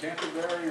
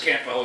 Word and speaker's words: Canwell: Chris, is it Canterbury or something? Probably got the name wrong. Yeah, it's it's Chris Canwell is my name.